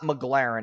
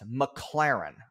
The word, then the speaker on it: McLaren: It's not McLaren, it's McLaren. Okay, so that's how we know this guy doesn't really have a lot of status.